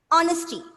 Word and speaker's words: honesty: See, and when you pronounce this word, please make sure that H is silent.